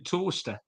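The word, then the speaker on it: Towcester: a go it's spelling toaster it's pronounced like the item of kitchen wear that you put your bread in uh but it's spelled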